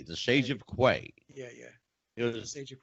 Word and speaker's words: Quay: Mike says to me, "Do you pronounce this Quay or Quay?" I said, "It's Quay, the Sage of Quay."